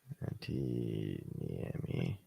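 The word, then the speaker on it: Niemi: to us right now how do you say his name n-i-e-m-i near me n-i-e-m-i yeah I got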